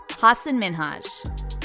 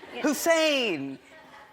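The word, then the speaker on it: Hasan Minhaj: People always mispronounce it. They're always like, Hassan Minhaj, Hussein.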